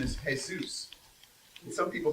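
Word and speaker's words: Jesús: is Jay Jay Sanchez his real name is hey Zeus some people pronounce that Jesus we're gonna call this thing Peter and Jesus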